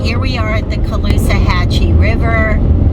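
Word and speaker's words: Caloosahatchee: we are at the Colusa Hachi River a lot of people ask how to pronounce that it is Colusa Hatchy it's a tough one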